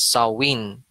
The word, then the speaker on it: Samhain: It's spelled this way, Samhain, pero it's pronounced as Samhain. Okay? Samhain is the Lord of Death.